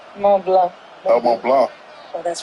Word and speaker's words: Mont Blanc: The C is silent. Mont Blanc.